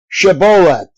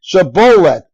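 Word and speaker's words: shibboleth: no I am not they would tell him to say shabet if he was from Ephraim he would say saet because people from Ephraim cannot pronounce the word correctly then they would take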